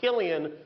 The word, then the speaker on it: Cillian: Interesting fact about his name, it's pronounced Cillian when he does drama.